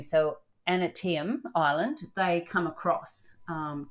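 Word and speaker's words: Aneityum: of the ship I don't know how to pronounce this a n e i t y u m so antim Island they come across um to Mystery Island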